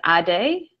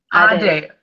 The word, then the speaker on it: Adey: But if you want me to tell you how it's pronounced, it's Adey. Adey.